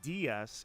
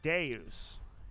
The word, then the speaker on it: deus: archangelus and deus deity uh deus is not uh like they pronounce it officially arceus but it's not dias it's deus in latin so archangelus and deus